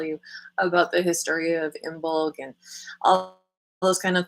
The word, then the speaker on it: Imbolg: So Imbolg is and you can see from the pronunciation that g, k, very similar sound.